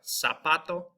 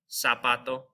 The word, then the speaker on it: zapato: It's going to be pronounced like an S. So we have zapato, cebra, zapato, and cebra.